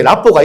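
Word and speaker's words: rapport: 네, 정확한 발음은 래뽀라고도 하고, 네, 불어입니다. 불어. 프랑스어인데 신뢰, 신용, 이런 얘기입니다. 그래서 나와 우리 다른 선생님과의 그런 사이에 라뽀가 있어라는 얘기.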